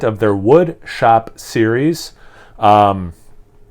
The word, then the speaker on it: Sonomica: Sonomica, I'm assuming is how you pronounce this, like Sonoma, yeah.